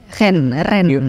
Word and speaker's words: Rennes: Tapi ini visual arts ya, pendidikan lo seni visual arts di Universitas Rennes, right? Ren bacanya, Ren.